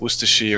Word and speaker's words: Worcestershire: No, you're not saying it right anymore. Okay. Oh, you said it wrong, is what you said. It's like Worcestershire.